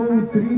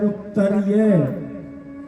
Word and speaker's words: उत्तरीय: पट्टी डाली जाती है, लोग उसको उत्तरी बोलते हैं, लेकिन उसका उच्चारण है उत्तरीय।